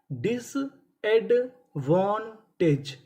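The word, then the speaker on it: disadvantage: अगर आपको इंग्लिश के किसी भी मीनिंग के आखिरी में इ लिखा मिले तो हम लोग इ का उच्चारण नहीं करते। इ से पहले तक का उच्चारण करते हैं।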